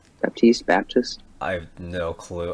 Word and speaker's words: Batiste: Baptiste, Baptist, I have no clue. I could actually look it up right now. Hold on. It's Batiste. Cool. E is silent.